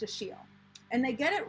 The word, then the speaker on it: Achilles: is spelled as if it's achilles but it's pronounced a shiel and they get it right in the first